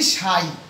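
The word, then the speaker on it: psi: লেখছি পিএসআই অর্থাৎ এইটাই এই পিএসআই এর উচ্চারণই হচ্ছে সাই আচ্ছা যাই হোক সাই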